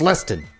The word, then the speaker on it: Lestine: It's Lestine in Japanese, but it'd be Leston. Like, I know some people with different names and how they would be pronounced in different languages, but I still... It's Leston!